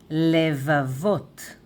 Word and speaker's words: לבבות: And plural, though it is vav and taf here, it is masculine, plural, levavot, levavot, levavot, lev, levavot.